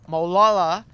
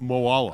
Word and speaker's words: Moala: fourth year uh uh Sultan Mo molala no no no no Sultan moala okay thank you I'm terrible